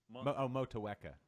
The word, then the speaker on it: Motueka: Motueka.